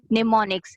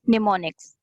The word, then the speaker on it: mnemonics: So for those memory tricks, use the technique of mnemonics. M is silent here. Use the technique of mnemonics.